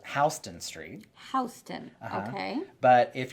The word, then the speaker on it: Houston: you see the sign, you might think it says Houston. Houston, yes. Is It's it spelled actually the Houston. same way? It is spelled the same way. Oh, yeah. Yep. But it's Houston.